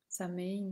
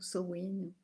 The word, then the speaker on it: Samhain: Ça va être vraiment là avec Samhain ou Samhain. Voilà, il y a différentes prononciations, hein, cette célébration-là, et puis la Toussaint,